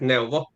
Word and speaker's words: Neuwo: Well, when we found new um or in Finland, we pronounce it Novo.